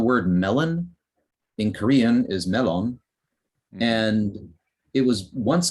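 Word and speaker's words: 멜론: and uh many english words introduced via japanese pronunciation have been reformed so like the word melon in korean is melon and it was once called in korean meron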